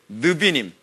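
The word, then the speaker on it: נביאים: 느비님 이게 이게 니은 발음 난다 그랬잖아요. 그죠? 느 이게 비웃음 나거든요. 느비님 뭐 이렇게이 나비와 관련되신 단어로 해서 느비님 선지자 선지서 뭐 그렇게 얘기하는 거예요.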